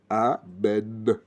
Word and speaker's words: Amen: Il faut bien prononcer Amen. C'est pas Amen. Amen. Bien prononcer le A, le B et le Noun, le N. Amen.